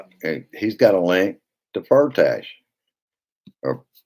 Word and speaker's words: Firtash: I've heard it pronounced so many different ways. It depends on whether you're watching CNN or MSNBC. Is they said it was Firtash, so that's what I always say.